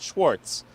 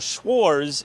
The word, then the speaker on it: Schwarz: here's the thing though the Z is pronounced like it's a TZ which is I know